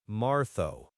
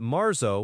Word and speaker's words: marzo: So, Maro, if you're learning Castellian Spanish, you'd hear Martho. But Marzo with an N sound is widely understood and common.